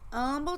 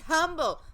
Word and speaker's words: Humble: right hang on it's Humble Texas because the H is silent you know it's cause it's Mexican so you're a violin I'm like oh my god its humble they drove me crazy